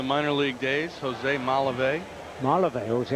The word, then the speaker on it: Malave: just about to ask you siron how to pronounce that name m a l a v e and you helped me out Malave from the minor league days Jose Malave Malave Jose how was was wrong I didn't get